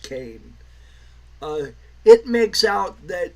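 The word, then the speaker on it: Leslie Kean: it's pretty much all uh what's her name Leslie Kane yes it's spelled Keen but it's pronounced Kane uh it makes out that she's the the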